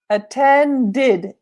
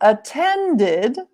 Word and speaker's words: attended: failed hmm be careful attended attended is with a D so we have to